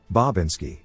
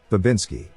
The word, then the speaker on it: Bobinski: new name will be bobinski sorry the only way i could make polly pronounce bob correctly was if i separated the bob from the insi otherwise it would say babinski there was one more